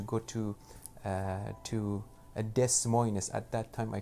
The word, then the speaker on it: Des Moines: knew nobody in iowa i even didn't know how to pronounce des moines correctly i didn't know those two s's are extra i i just googled